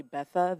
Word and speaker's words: Bertha: The next guest speaker is Bertha. Good evening. Good evening. There's no way you could have known this, but it's actually Betha. The R is silent, but very Betha.